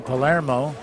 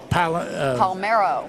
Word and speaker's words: Palermo: talking with right now Palermo close Palmero Palmero yeah that's okay you know I'm very used to it I've called Palermo Palumbo Palmetto I've been saying it right yeah I know you've